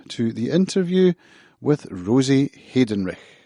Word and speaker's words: Heydenrych: the interview with rosie haydenrich so i'm sitting with rosie hayden rush hayden rick almost yeah so i pronounce it hayden rich hidden rich but carl's mother pronounces it hayden wreck so i i'm free